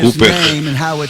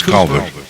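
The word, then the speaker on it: Cowper: dos hinos de El Cooper que muitas pessoas vê seu nome e eles não pronunciam corretamente seuu e como americanos nós pronunciamos calver mas inglês é C Ele nasceu em 1731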